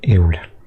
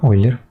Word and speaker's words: Euler: Euler, que se pronuncia Euler, ¿no? El número de Euler o Euler, como quieran.